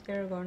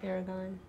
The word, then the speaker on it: Aragorn: His name's Aragorn, not Aragorn.